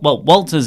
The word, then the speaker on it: Walter: Well, Walter's easy because in Austrian, in Austria, you sort of pronounce W's as V's. Yes. Like Wim Wenders and Wagner.